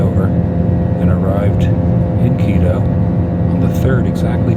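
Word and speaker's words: Quito: way to keto Qi t o keto let's pronounced keto I've learned that in my time here you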